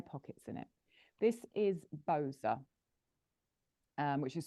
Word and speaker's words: Boza: This is Boza, which is spelled B-O-Z-A.